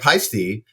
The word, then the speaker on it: Paiste: what I mean and but like pisty again that's one that's pisty everywhere yeah people want to get it wrong and stand on ceremony